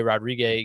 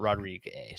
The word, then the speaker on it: Rodrigue: Olivier Rodriguez gets, is that how you pronounce his name? I honestly don't even know. Rodrigue. Okay, that's what I thought. I thought I'd heard it, not Rodriguez.